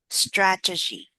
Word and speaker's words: strategy: Uh strata strat G G strategy strategy. Yeah. Stress on the first syllable. Strategy.